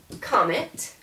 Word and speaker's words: comment: So the French word for how is actually, it looks like comment, but don't forget, careful, you're not going to pronounce that last T.